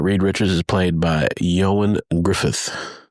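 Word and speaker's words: Ioan Gruffudd: Uh Reed Richards is played by Yoan Griffith. I had to look up how to say his name. uh Welsh man and Welsh language is interesting. So Yoan Yoan Griffith uh in this variation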